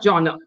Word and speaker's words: genre: spelling is g n r e but you pronounce it as g n e r joh yeah you understood Jon exactly Jon so Jonah is you don't say so what